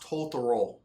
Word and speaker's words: Totoro: I believe it's pronounced Totoro.